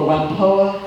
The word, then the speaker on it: Whampoa: you pronounce the name as he would have pronounced it in Cantonese, from the Wangpu or Whampoa village, Guangdong province, that is Canton.